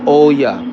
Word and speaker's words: Olla: let you go what is your goal for Oya I said it right right yeah what is your in goal for Oya my in goal for I don't think I